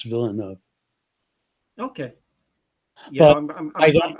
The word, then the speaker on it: Villeneuve: Yeah, I have a friend by the name of Villanueva, which I, is the Spanish pronunciation, yeah. and he said in French it's Villeneuve.